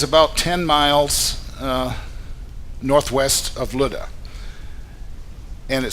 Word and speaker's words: Lydda: Right before the story from today, we find Peter in Lydda, or Luda as it's pronounced in Greek, and he heals a paralyzed man there in Lydda.